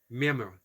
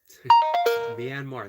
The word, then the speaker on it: Myanmar: as says hello flow says y tried to pronounce Myanmar myar Myanmar that's the last time I I taught you